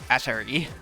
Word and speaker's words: Atari: But also, it's pronounced Atari, and so the game company Atari has always pronounced their name wrong.